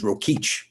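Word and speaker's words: Rokeach: would buy their products it was called in those days it was called rokayak then they would they start printing pronounced as rokich they bought rokich macaroons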